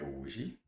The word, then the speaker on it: hoje: Então, hoje guerra, nós já vimos aí, ó, hoje tem quatro letras e três fonemas, porque o H tem um som mudo.